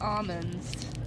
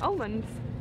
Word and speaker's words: almonds: Well, how do you say it? Almonds. Almonds? Almonds. There's an L in it.